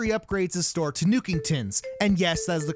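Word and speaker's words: Nookington's: nuke's store after he upgrades his store to new kingtons and yes that is the correct way to pronounce it in classic animal crossing fashion you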